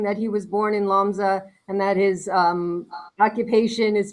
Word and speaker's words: Łomża: They came from a town in northeastern Poland called Lumja, although in Polish they pronounce it Łomża.